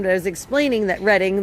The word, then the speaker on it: Reading: Um we're in Morgantown, but I was explaining that reading like they see Reading Railroad on the Monopoly board. We pronounce it reading around here and that's just